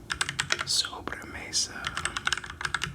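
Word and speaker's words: sobremesa: Sobra mesa.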